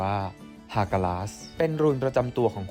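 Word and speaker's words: Hagalaz: ลำดับ ที่ 9 คา หรือ ออก เสียง เป็น สำเนียง ไทย ว่า ฮากาส เป็น รูน ประจำ ตัว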